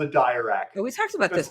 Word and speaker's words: Dirac: It's called a dirac. It's not called a dirac.